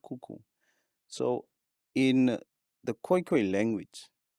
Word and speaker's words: Khoe-Khoe: So in the koi koi language you pronounce um the vowels separately o e.